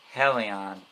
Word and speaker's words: Helion: Hey guys, welcome back to Beast Quest, Series 7, Book 2, Helion the Fiery Foe.